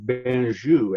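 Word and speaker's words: Bengué: They spelled it differently, and you were supposed to pronounce it differently, Benjou, after the doctor who created it, a French doctor. But then when they changed, they couldn't get Americans to say Benjou.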